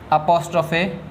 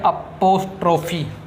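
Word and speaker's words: apostrophe: अपोस्ट्रोफे एस। ज़रा students इसको आप बोल के सुनाना, क्या कहोगे? अपोस्ट्रोफे एस। कई स्टूडेंट्स इसको बोलते हैं अपोस्ट्रोफी, रॉन्ग प्रोनाउंसिएशन।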